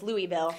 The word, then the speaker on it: Louisville: Sherry says hello from we have a Louisville here, and we have to say Louisville. And so when I look at Louisville, Kentucky, it's hard for me to remember that it's Louisville, not Can I be Louisville.